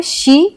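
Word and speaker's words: she: अगर एस एच ई है तो वहां पे शी का उच्चारण आया और अगर एम इ एन है तो ए का उच्चारण आया।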